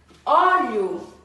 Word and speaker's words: óleo: Esse ó é a sílaba que é mais forte, não é? Óleo. Esse ó pertence à sílaba mais forte e tem o som aberto. Pertence à sílaba mais forte com som aberto.